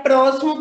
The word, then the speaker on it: próximo: Tia, próximo tem o som do S.